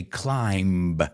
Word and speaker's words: climb: I just want to make sure you guys don't say climb. So let's review those. Climb is the verb, and climber, see, no B. I know it's in there, but we don't pronounce it.